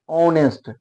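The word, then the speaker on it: honest: लगा कारण है कि इसका उच्चारण एच साइलेंट है और यहां से उच्चारण होता है नेस्ट नेस्ट नहीं होता ऑनेस्ट ऑनेस्ट शुरू में क्या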